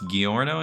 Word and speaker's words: Giorno: too I've never even watched the show it's pronounced Giorno giorno that theme foreign I heard it